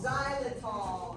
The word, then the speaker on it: xylitol: Xylitol, that's right.